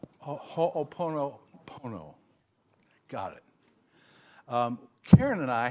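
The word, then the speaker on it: Hoʻoponopono: And that is that this business, now you're going to have to correct my pronunciation, but it's Ho'opono. Is that right? Ho'oponopono.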